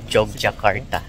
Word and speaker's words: Yogyakarta: up guys Good morning Welcome to yogyakarta na binibigkas nila dito ng mga locals as Jog jakarta nandito tayo ngayon sa